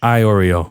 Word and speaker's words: Iorio: Iorio. Like the Oreo cookie.